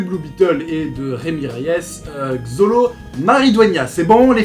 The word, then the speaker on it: Reyes: L'histoire, c'est l'histoire d'un jeune du nom de Rémi Reyes, que ça se prononce comme ça.